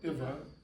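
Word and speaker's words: इव: Eva? No, Iva. E and E. Two short E's make one long E.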